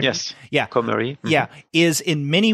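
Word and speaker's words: Cormery: man's protagonist, Jacques Comery, is that how you pronounce the last name? Mm-hmm. Comery? Yes. Yeah. Comery.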